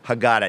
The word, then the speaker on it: Haggadah: I believe I'm pronouncing that correctly. The Rational you did it beautifully. Passover Haggadah.